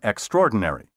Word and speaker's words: extraordinary: say zoology and zoologist also don't pronounce the extra in extraordinary the word has five syllables not six be sure to clearly